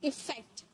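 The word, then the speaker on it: effect: आप इसकी प्रोनाउंसिएशन पे ध्यान दीजिएगा। कहीं-कहीं हमें यहां पर ए देखने को मिलता है और कहीं-कहीं इ देखने को मिलता है। तो, अभी हम इ की बात करें। ए की भी बात हम करने वाले हैं। इसे हम प्रोनाउंस करते हैं इफेक्ट।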